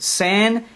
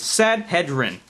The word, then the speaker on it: Sanhedrin: You got to pronounce it for me first so I know how to pronounce it. Sanhedrin. That's why I'm how I'm going to pronounce it. Sanhedrin.